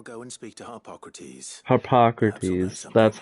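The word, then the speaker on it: Harpocrates: Maybe fine I'll go and speak to Hippocrates Hippocrates that's how you say it and if he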